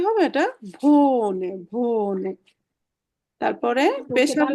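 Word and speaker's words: wohne: আমরা বাংলাতে ভ বললে যে উচ্চারণটা হয়, তাহলে এটা কি হবে? ইস ভে ও কি হবে? ভো, ইস ভো, লাস্টে নে, ভোনে, ভোনে।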